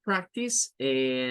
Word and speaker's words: practice: La palabra practice, nótese que toda esta es la primera sílaba. La C termina con el sonido, en este caso, de una K. Y la A suena a I, es el sonido I, donde se mezcla A y E.